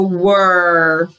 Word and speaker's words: were: not following the rules he's the silent e he's supposed to say say your name but he's not listening he's not following the rules okay so we have e is not following the rule and e is not following the rules but w and r are okay so were when you